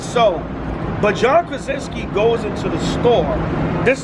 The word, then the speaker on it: John Krasinski: Now remember, in that first scene, John Krasinski, that's his name.